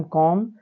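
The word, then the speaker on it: calm: पहले एल आया है तो एल का उच्चारण हम लोग नहीं करेंगे तो सी ए एम कॉम पी ए एम पम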